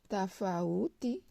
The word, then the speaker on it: tafauti: Alors, par exemple, tafauti, regardez, tafauti, il y a A et OU. Je vais lire le A, je vais lire le OU. Tafauti.